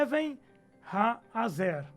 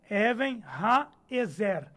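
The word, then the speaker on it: אבן העזר: A pronúncia é Even Ha-Azer. Ou então Even Ha-Ezer. Também pode ser assim.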